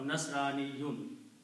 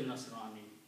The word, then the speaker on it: Nasrani: One person, one Christian, is called Nasrani or Nasraniyun. Okay, if you stop, you say Nasrani.